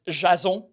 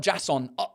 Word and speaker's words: Jason: Um, it's like Jason, uh, as you say, in French is jazon. It's not Jasson. It would be Jasson in English if there was two s's.